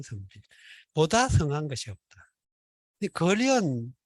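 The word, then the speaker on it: 傑: 그래서 그거 덮는 걸 횃보라고. 우리 어릴 때는 그런 식으로 많이 있어요. 보르네오 가군가 그거 나오기 전에 다 그렇게 집집마다 그때 걸어가지고. 그런데 이게 발음이 걸이에요, 걸. 그래서 사람 인변을 붙여가지고 발음은 걸이고 뜻은 사람과 관련된 거죠.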